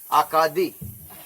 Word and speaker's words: Acadie: They started off as where they came from, Acadia, pronounced in French, Acadie.